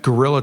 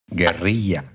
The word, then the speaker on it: guerrilla: Okay, that is not how you pronounce it. What? Gorilla. Okay, well, I'm a white guy, so I say gorilla. Most of my white friends all say gorilla, so educate me. Guerrilla. Guerrilla. Yes, gotcha, baby, gotcha.